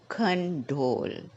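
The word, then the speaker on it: condole: after me emotional emotional next condol condle can you see there are two syllable in this word and the stress is in the last syllable condle next come collapse collapse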